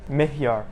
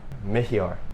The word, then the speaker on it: Mihyar: Mihyar. Mihyar. That's two syllables.